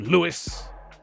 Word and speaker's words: Louis: the you know the the jury's out about louis armstrong don't you you know the the because you know we would say in england we would say louis armstrong but if you listen to him singing you know he sometimes sings his own his own name and he sings and old lewis and i was like wow he calls himself louis armstrong in the song hi jennifer and it's